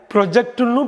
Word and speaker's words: project: இந்த வார்த்தையை ப்ரொஜெக்ட்னு படிக்கலாம், ப்ராஜெக்ட்னு படிக்கலாம்.